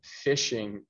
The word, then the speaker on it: phishing: to catch victims and the term we use for this is called phishing so it's not like fishing when you go uh fishing for fish but it ends up being that for them but it's spelled with a h so it's f h